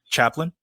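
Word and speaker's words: chaplain: bible by this point chaplin yeah it's pronounced chaplin like charlie chaplin i'm sorry sorry about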